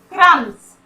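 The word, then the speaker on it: crumbs: यहाँ पर क्रम्स, यहाँ पर भी हम लोग बी का साउंड नहीं करते।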